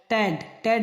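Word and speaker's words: debt: पहले जहाँ भी बी पाया जाए तो वो साइलेंट रहता है। टैड माने होता है कर्ज, डाउट माने होता है शक।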